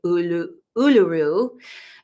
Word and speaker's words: Uluru: So in this image, Uluru is the sacred, or they say Uluru, the proper way to say it.